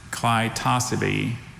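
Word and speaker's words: clitocybe: Noun, Clitosabe.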